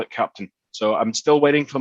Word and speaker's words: Keptn: introduction about captain uh pronounced captain not captain um the reason it's called that is because that is the german phonetic pronunciation of captain and sticking with the